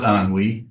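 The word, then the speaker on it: ennui: i it's not an on we oh it's on we on WE it's not are you on you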